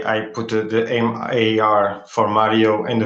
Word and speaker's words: Mário: dee how are you i'm gonna let you pronounce your last name so the first name is mario technically correct yeah mario but uh yeah i decided to put marvy